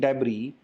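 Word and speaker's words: debris: हाँ जी, how coastal species are living on plastic डेब्री इन the ocean. ये वैसे तो डेब्रिस लिखा जाता है लेकिन इसके अंदर एस साइलेंट होता है, तो राइट प्रोनाउंसिएशन इसकी डेब्री ही होती है।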